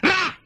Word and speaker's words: Ra: Egyptian sun god. One syllable yan. Ra!